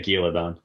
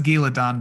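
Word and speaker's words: Gealdan: He's in Gaeladon. Jake, how do you say it? Gaeladon? Michael yeah. Kramer say Giladon. Yeah. He says Giladon, but it's not spelled that way.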